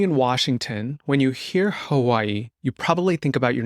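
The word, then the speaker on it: Hawaiʻi: think people should say Hawaii correctly too so let's just say it correctly again let's just repeat it it's Haw the W is sometimes pronounced as a v but there's definitely what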